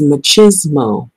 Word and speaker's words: machismo: much well I call it machoism but it's machismo is what it's pronounced not politics and so before I read